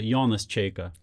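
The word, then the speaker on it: Jonas Čeika: philosophy now known as jonas chaka how's the pronunciation on that am i am i that's pretty good yeah it's uh yawnless chica giannis okay here to talk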